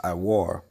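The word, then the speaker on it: עור: All right, that word skins in the Hebrew is going to be, it's pronounced iwar.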